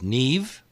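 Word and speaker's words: Niamh: bunch of Irish names n I am H is Nev Nev yeah that really gets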